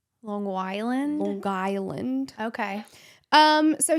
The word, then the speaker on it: Long Island: Oh, I'm told you do the hard G there. Long Island.